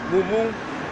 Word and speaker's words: mumu: Now it's pronounced mumu, alright, not mumu.